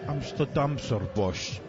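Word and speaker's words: Amsterdamse Bos: pressure 11 or free i didn't pronounce it quite right it's supposed to be amsterdam sir bush the amsterdam forest which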